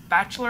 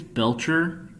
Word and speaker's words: Belcher: Bachelor, I believe. If I hope I said it right and I did not butcher him. I think it's Belcher. But Yes, it's Belcher.